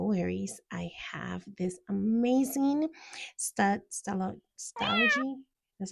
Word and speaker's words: Stalogy: But no worries, I have this amazing stalogy. That's how you say it? Yes, stalogy notebook that I put down everything that I